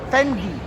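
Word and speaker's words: Fendi: Can I ask um how would you how do you pronounce this Fendy? Fendy.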